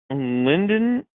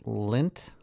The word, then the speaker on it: Lindt: Linden? Also, the packaging looks like shit, but it's really good chocolate. Yeah, it sounds like some European bullcrap nonsense. The D is silent, so it's Lindt.